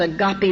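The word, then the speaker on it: agape: It's called agopy love. That's spelled A G- A P E.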